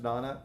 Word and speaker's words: nona: I think it's pronounced Nana, but if you want to say Nona, I don't get upset.